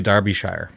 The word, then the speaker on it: Derbyshire: i would like to speak about uh delia darbyshire spelled d-e-l-i-a last name darbyshire pronounced that way spelled derby d-e-r-b-y-s-h-i-r-e i go